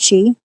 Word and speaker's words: chi: There's lots of kinds of keys though cuz there's like key is how you actually pronounce chi.